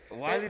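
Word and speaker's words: Weili: So the co-main event was Willie. Which I love. I put money on that one. So Willie Zhang, I think I pronounced that name. Yeah. Or is it Wiley? Yeah, Wiley. Yeah, Wiley Zhang, and then Rosie Namajunas.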